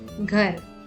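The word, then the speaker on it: घर: Ghar. Remember, since there is no matra at the end of the word, the last letter is pronounced softly or as a half sound while reading.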